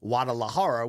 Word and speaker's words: Guadalajara: I attempt to pronounce it the right way, Guadalajara, which both Danny Segura and Brandon Moreno did. No, your ears aren't working. And then you corrected me and said I could pronounce the G, even though they both didn't.